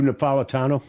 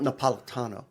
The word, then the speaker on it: Napolitano: It's not Napolitano. That's not Italian. It's Napolitano. Napolitano from Naples.